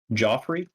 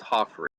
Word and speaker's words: Joffrey: Joffrey? Yeah, it looks like it's Joffrey, but it's pronounced Hoffrey.